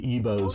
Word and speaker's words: Igbos: The Igbos are the people. That's how I understand you're supposed to pronounce it, but I understand the G is sort of silent, but I may be wrong on that.